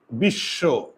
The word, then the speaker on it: বিশ্ব: শব্দের শেষে না তো শব্দের শেষে যদি থাকে তাহলে এই বর্ণটা দুইবার উচ্চারণ হবে এই যে লিখে দিয়েছি শব্দের শেষে থাকলে ওই বর্ণ দুইবার উচ্চারণ হয় বিশ হসন্ত না দিলে উচ্চারণ হবে বিশেষ এজন্য হসন্ত দিতে হবে বিশ্ব এখানে অ এর